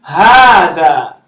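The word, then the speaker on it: هٰذَا: That's an alif. It's an elongation. So this is hada.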